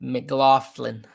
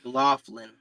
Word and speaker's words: McLaughlin: McLaughlin. Thank you. McLaughlin.